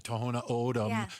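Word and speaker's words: Tohono O'odham: Uh, the Toona ODM specifically, I think, is the one that has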